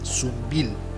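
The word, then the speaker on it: Sunbilla: beautiful town of sumbia the basque people pronounce its name as soon bill which is of course the correct one in the vicinity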